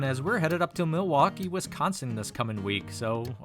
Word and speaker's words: Milwaukee: Well, I hope to see you in the next one, as we're headed up to Milwaukee, Wisconsin this coming week. So until then, take care. Actually, it's pronounced Milwaukee, which is Algonquin for the good land.